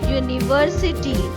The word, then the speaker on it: university: For example, a university. University. Y is the sound of the letter Y, and Y is a consonant.